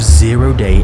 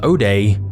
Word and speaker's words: zero-day: buying and selling of zero-day exploits. Which raises our first question, what the hell is that? A zero-day, sometimes pronounced O-day, is essentially a flaw